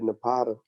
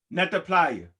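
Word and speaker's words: Nabta Playa: Nah, I said, you said Napata. You talking about Napta Playa. Napta Playa. Yes, that's the correct pronunciation of it.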